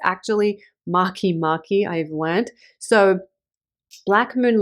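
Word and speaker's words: Makemake: when I was talking about Maki Maki I pronounced it make make because that's kind of how it's spelled but it's actually Maki Mari I've learned so Black Moon Lilith and Mari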